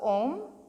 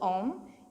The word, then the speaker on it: Om: the syllable ohm or the mantra ohm is chanted in three syllables each syllable having representation of one of these sathyas one of the tree Sophia's so ah symbolizing creation ooh symbolizing life or preservation and finally mmm symbolizing destruction or death so as we chant